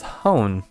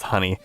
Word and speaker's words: Hone: a chef or something it's pronounced honey yeah I'm gonna hate